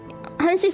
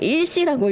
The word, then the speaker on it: 한시: 외국인들이 그런다던데, 막 한시 써두면은 그걸 일시라고 읽는데, 왜냐, 하나랑 그러니까 서술을 읽으면 하나잖아요. 근데 그게 또 시랑 붙으면 한시가 되잖아.